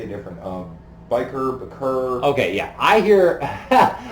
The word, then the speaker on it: Bashir: I used to say Bashir the Bashir, entire okay. time, but it's biker. DS9 Pride. Yeah, it's biker. It's biker. Yeah, Okay. it's the correct pronunciation is biker.